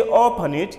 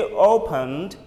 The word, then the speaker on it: opened: Don't say open it, you say opened, opened. We end it with D only, opened, no it is needed.